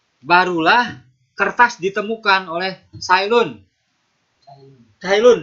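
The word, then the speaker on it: Cai Lun: Cailun dibacanya ya, Cailun.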